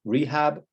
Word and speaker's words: rehab: So they have two syllables, they're end clippings, they're submorphemic, the end in a consonant are initial stressed, so it's rehab.